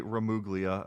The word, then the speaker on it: Gramuglia: I said his name is pronounced Gramuglia, not just so you know, because he does get kind of frustrated with people pronouncing it wrong because they do a lot. Right, yeah. The G is silent.